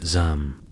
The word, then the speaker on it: yam: But for the messengers of the yam pronounced zam, it was mostly a matter of not falling off your horse and not running out of cheese.